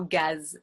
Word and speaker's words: gaz: Et une petite exception avec le mot gaz.